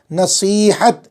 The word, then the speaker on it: نصیحت: واو تا، عداوت، نصیحت، یہ جو بیچ میں ہے وہ یا ہے، نصیحت، اس کا تلفظ درست کر لیں اور یہ بھی دیکھ لیں کہ کس طرح لکھا ہوا ہے۔ نصیحت، ذریعہ، ذال ہے،